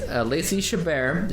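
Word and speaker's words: Lacey Chabert: that is Lacy shabar that is how we say her name we said it wrong last time or I did or something but it is Lacy shabar she is the Lady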